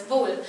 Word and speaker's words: Boule: who was more familiar with uh the French pronunciation and said no no it's bull so I checked with